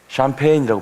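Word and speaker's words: champagne: 이 단어는 특별히 프랑스가 어원인 그런 단어가 되겠습니다. 그래서 이 스펠링하고 발음이 약간 많이 좀 다르죠. 샴페인이라고 발음해야 맞는데요.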